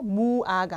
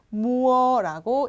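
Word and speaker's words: mua: 자, 세 번째 우아가 아니라 우어라고 읽어 주시고 그래서 무아가 아니라 무어라고 읽어 주시면 됩니다.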